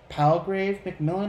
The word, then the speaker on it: Palgrave Macmillan: Very great read, but this is by Palgrave Macmillan, I believe it's pronounced.